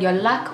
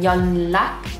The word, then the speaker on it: 연락: contact in your phone, although it's spelled with a nian, when you pronounce it, the nian changes to a rir because you're trying to anticipate the next sound, which is a rir as well.